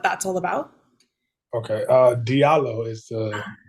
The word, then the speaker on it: Diallo: dialo and what that's all about okay uh Diallo is the pronunciation we're all good I know um you